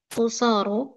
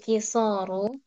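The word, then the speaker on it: قصار: Wa man haula irrijalul qusaru. Oh, kisor. Afwan ya, ini bacanya. Wa man haula irrijalul kisaru. Dan siapa para laki-laki yang pendek ini?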